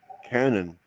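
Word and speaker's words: cañón: It's pronounced like Canyon, but there is no Y cuz it's the Spanish version as opposed to the American version. Canon.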